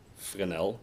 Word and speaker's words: Fresnel: It was invented by this guy, Fresnel. He's French. That's how his name is pronounced. It's very annoying, but that's how it is.